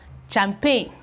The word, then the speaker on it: champagne: there is silent we have campaign campaign we still have champagne champagne okay you can see that all these ones here the G are actually silent we have G here but it is not pronounced we have G here it's equally not pronounced and the funny thing